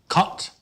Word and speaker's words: kant: in more detail the short a in dutch is pronounced ah like in kant where we have just a one syllable word with only one a in the second word